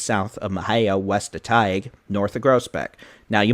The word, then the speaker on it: Teague: Now, you might be wondering, why do I say it like Tige? Well, sometime last year during one of the many live streams, I kept saying Teague or something wrong. I was saying the town name wrong.